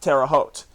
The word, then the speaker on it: Terre Haute: We pronounce it Terre Haute here.